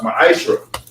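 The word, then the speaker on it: מעשר: Tithes, which is a commandment, you can find this in Numbers 18:21 and Malachi 3:8-10, means 10th in Hebrew. It's pronounced ma'ashra.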